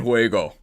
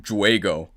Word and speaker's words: juego: Que gran juego. H is silent, J is H.